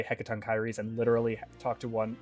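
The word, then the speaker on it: Hekatonkheires: theirs who could explain how to say hekaton kyries but that is that is how you say that word heckaton kyries fearsome creatures who were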